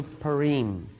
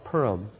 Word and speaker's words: Purim: It is correctly pronounced in Hebrew Purim. Pur means lots or dice. Im is plural. But it has been the custom, even in Israel, to call it Purim.